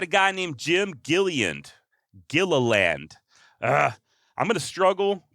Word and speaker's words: Gilliland: guy named Jim gilland Gilliland ah I'm gonna struggle pronouncing this guy's last name it's spelled g-i-l-i-l-l-a-n-d so Gila land agila Gilliland look there's no way